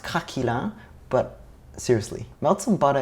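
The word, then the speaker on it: craquelin: I'm gonna make consists of three elements the crackle and topping the choux puff and the vanilla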